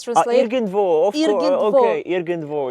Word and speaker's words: Irgendwo: And if we look back at your early works like Ingedwu, sorry for my German, one of your earliest tracks is Ingedwu.